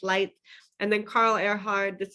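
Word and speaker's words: Leitz: you see this one think lights out it's pronounced lights and then carl earhard this is the producer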